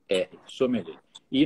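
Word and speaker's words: sommelière: Então fica sommeliere, só que a gente pronuncia sommelier. Sommelier, o homem, e sommelier, a mulher.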